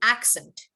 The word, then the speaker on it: accent: is when you say the noun you want to emphasize the first part of the word but when you